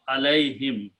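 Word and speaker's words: عليهم: This is written as a ya with two dots and pronounced alay. And whom is pronounced as him, because this ya is a sound of kasra, so this is a sound of kasra is pronounced. So alayhim, okay.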